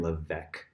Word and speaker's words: Levesque: My name is Levesque. I help other entrepreneurs launch and grow businesses online. Okay, so I had mispronounced his name. It's Levesque, and he teaches something.